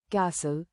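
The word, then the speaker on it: castle: उदाहरण psychology psychology pseudo shadow साइलेट टी मॉनटी जब एफ या एस के बाद टी आई या टीसी एच का संयोजन हो तो टी साइलेट होता है। उदाहरण विसल विसल कैसल कैसल listen listen catch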